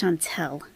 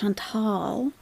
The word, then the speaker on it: Chantal: Kylie's birthday where's Kylie it's not pronounced Shantel it's Shantal with an a shantall I show speed